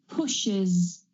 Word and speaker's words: pushes: another example exle is push sh is one of the sounds push pushes pushes so don't push like I hear some students trying to do you need to add an extra syllable you need to add that schah pushes pushes in a